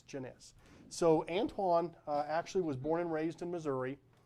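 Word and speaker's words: Janis: Now, I used to pronounce it Janus until somebody went, "Look, okay, sure, if you're not that smart of a guy. This is French, it's Genesis." Okay, it's Genesis.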